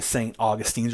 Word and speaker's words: St. Augustine: We hear a lot of characters refer to as St. Augustines or St. Augies, but Connie says St. Augustine, which is probably the more correct pronunciation.